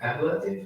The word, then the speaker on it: ablative: The fifth one how do you pronounce it? Ablative. Ablative. That's right.